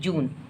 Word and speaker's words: June: तो ये क्या हो गया, JUNE, जून, JUNE, न। इसको हम ने नहीं पढ़ेंगे बल्कि ना पढ़ेंगे, जून।